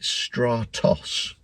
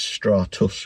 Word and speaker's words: Stratus: getting the name wrong I keep calling it Stratos gray but it's Stratus gray Stratus gray I guess it's like a cloud isn't do you get stratus clouds I'll go with that